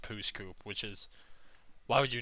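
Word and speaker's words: Pouce Coupe: It's literally pronounced Pooskoop, which is...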